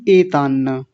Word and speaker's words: एतान्न: एतान्न, एतान्न नहीं एतान्न, एतान्न, ये दो न बने हुए हैं, ऐसे कई बार आ गए हैं, तो अब तो कोई दिक्कत नहीं होनी चाहिए आपको।